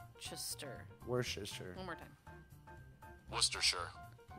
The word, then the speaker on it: Worcestershire: worcestershire one more time worcestershire worcestershire so worst to sure where's this shirt yeah you make sure that it's not the worst yeah where is his shirt hey we're learning new